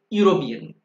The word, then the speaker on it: European: A European, this is starting with E, vowel letter, but it is pronouncing as U, European, a European.